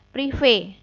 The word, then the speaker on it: prive: Nah, kalau dalam akuntansi, pengambilan pribadi oleh pemilik itu namanya adalah prive atau tulisannya PRIVE, prive atau bacanya prive.